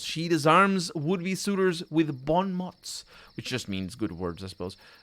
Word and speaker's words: bon mot: And also, I don't think it's mots. It's mot? Bon mot? Bon mot. Yeah, I think that's how it's pronounced.